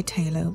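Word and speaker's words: Thalo: I've also used the Talo colors I say Taylor, but I'm English and my teacher was English. And so that's how she said it.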